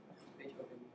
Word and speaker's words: Beethoven: The O in Beethoven is not a schwa, so it is actually stressed.